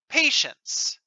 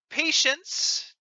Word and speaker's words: patience: angry pronunciation patient patience patience patience number two and patience number three have the same pronunciation in normal speech we don't usually pronounce the t when it's between the n and the s unless we are being